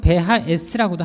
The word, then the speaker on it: BHS: 우리가 보통 BHS 또는 베하S라고도 하는데요. 독일어 발음으로 베하S라고 합니다.